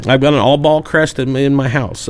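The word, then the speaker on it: Albaugh: By the way, guys, he's saying Albba, not all ball. It's all ball. Allb. A lb b a u g h. Ball. All ball. You with me? No. It's It's pronounced Albball.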